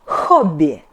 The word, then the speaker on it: хобби: H sound H is like H in Honda, but H in Russian is hard too. Try to breathe out with more dynamic. Yeah? Not H, not H, but H, H. For example, hobby, hobby.